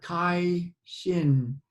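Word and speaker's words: 开心: You know, in Qigong they call it Kai Shin. I believe that's how it's said.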